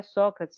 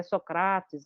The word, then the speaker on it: Sócrates: Ou, por exemplo, hoje em dia, que é super moda, porque a gente recuperar a pronúncia, né, que não é Sócrates, é Socrates, Socrates, né?